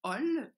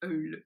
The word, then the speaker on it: Öl: Alors, au Québec, vous allez prononcer Ol, mais la façon allemande de prononcer ce mot, qui veut dire huile, c'est Eul.